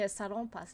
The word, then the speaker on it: Salonpas: The reason I say salonpas is because that's how you pronounce it in Japanese.